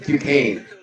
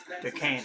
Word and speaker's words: Duquesne: It's pronounced Duquesne. Duquesne.